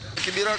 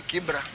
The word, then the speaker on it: Kibra: Waislam Wanubi niluonge ni Kibra. Koro that's the originality of it. But mane okuche obiro to gi jok mamoko to pronunciation no change from Kibra to Kibera. But sanino bedo rectified oduoke kuom Kibra.